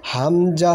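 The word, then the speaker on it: ه: বলেন হামজা হা, হা, হা। এটা উচ্চারণটা ভিতর থেকে হবে গম্ভীরভাবে।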